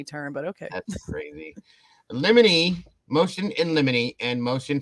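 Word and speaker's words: limine: like a legal term apparently the way you say this word is lemony and now all I can see is Lemony Snicket every time I read that word I thought it was La mine yeah me too that's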